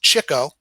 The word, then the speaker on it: Chico: the three oldest Brothers his nickname pronounced Chico was given him by Art Fisher during a poker game Leonard was Notorious for chasing after the chicks or women his phony Italian accent